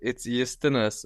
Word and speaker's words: Justinas: But if you want to call me as my mom does, so it's Justinas. We don't have the J in Lithuanian. We say it yacht, like it's Justinas.